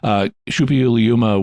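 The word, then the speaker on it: Suppiluliuma: Shupi Uliuma was one of the Hittite kings. And at least that's how the ancient name would typically be pronounced.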